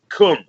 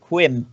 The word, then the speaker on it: cwms: So I've always said cum. I think that's just about right. Yeah, I had a friend at school who pronounced it quim, and the teacher.